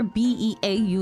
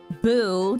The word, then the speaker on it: Beau: Beau is okay, so the spelling for B-E-A-U is pronounced many different ways. Beau, Beau, and also Boo, depending on other aspects of the game.